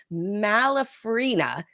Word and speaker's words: Malafarina: great show for you today we've got malfina did I pronounce that right you did pronounce that right